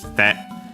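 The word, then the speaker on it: 来て: te to it, simply kite. the accent moves on the te, despite the being kuru accent on the first mora, because the e of ki is barely heard if at all.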